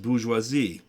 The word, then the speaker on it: bourgeoisie: Yeah, but it's pronounced bourgeoisie.